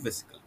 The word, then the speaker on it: vesicle: Basic call, actually দেখো এটাতে English word, VESICLE, এটাকে বেসিক ক্যাল বলতে পারো, বেসিক্যাল বলতে পারো, আমাদের প্রোনাউন্সিয়েশনের ওপর। ওকে, কিন্তু অ্যাকচুয়ালি VESICLE, যেমন মলিকুল যেমন বলি, হ্যাঁ কি না, মলিকুল সেরকম হচ্ছে ভেসিকল।